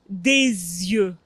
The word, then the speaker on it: des yeux: oui c'est très bien mais il y a une liaison en français donc on dit des yeux des yeux un œil